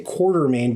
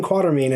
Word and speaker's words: Quatermain: i always pronounce it everyone wants to say quarter main but there's no r before the t quarter main allen quatermain and the last cities